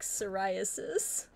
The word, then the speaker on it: psoriasis: sell it yeah chat what is your favorite silent p word i like psoriasis oh jj i mean